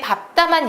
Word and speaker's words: 밟다: 리을 비읍의 대표음은 리을인데 밟다만 예외적으로 비읍입니다. 그래서 리을이 탈락하고 비읍만 남아야 되고요. 된 소리까지 해서 밟다 그리고요.